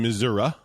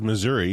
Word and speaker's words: Missouri: So I live here in Missouri. It says Missouri, but I know it's pronounced Missouri.